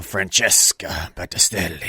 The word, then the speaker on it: Francesca Battistelli: Francesca Battistelli.